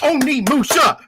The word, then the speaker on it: Onimusha: Viper's like, even I can pronounce this right. Why can't you? Okay, I've been saying that game wrong all my damn life. He even clapped and everything. He was like, Oni Musha.